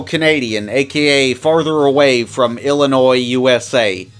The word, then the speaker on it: Illinois: Wagner is also Canadian, aka farther away from Illinois, USA. I'm going to incorrectly pronounce it with an S because that's just funnier.